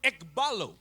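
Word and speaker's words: ἐκβάλλω: This word in Hebrew Ce mot en hébreu, is the word ekbalo. c'est le mot ekbalo. Ekbalo. Ekbalo. It is spelled E-K-B-A-L-L-O.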